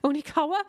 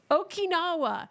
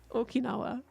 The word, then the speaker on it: Okinawa: island where the American Onawa what that doesn't sound right what is that not sound right I don't think I've ever said that word out loud Okinawa that's why I'm saying it wrong Okinawa you're right you're right